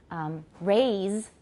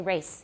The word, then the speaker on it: raise: Because in Taiwan English, lots of times people neglect to pronounce the Z's, right? So instead of saying, for example, raise, 就是提高, raise, people will say race.